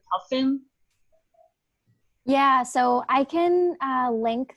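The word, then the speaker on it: PUFN: have butchered the name i thought you said puffin yeah so i can link the the group uh but it's puffin p-u-f-n if you google it it should be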